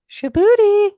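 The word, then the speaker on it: Shabutie: part, Shibuti? Shibuti. You gotta say it like that.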